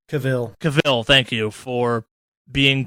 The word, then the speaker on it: Cavill: not such a big fan of Henry Cavill Carville how the you pronounce his name Cavill Cavill thank you for being Geralt and I